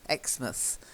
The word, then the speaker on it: Exmouth: Okay, we don't say mouse, we tend to say mus. Bournemouth, Exmouth.